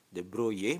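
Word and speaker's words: de Broglie: teori the broye ya Kalau tulisannya itu di broglie tetapi bacanya teori the broye menyatakan bahwa elektron sebagai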